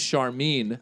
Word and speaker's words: Charmin: Her name is Charmine. Oh. And it's spelled Charmin.